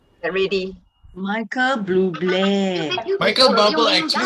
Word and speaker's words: Bublé: Oh, Michael Bubble. Get ready. Michael Bublé. Michael Bubble actually sounds better because it rhymes.